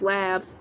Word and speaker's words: Elay: My name is pronounced like LA like the city.